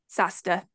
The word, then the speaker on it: SAHSDA: How do you say that quickly? SASTA is how SASTA. I say it. That's how you say it, SASTA.